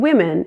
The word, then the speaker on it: women: That O in women is pronounced as a short I.